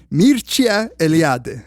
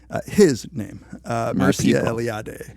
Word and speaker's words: Mircea Eliade: pronounce it this way, Mircea Eliade. Like I looked up the Romanian way. Nice. Because to be honest, I never knew how to say his name. Mircea Eliade. Mircea Eliade.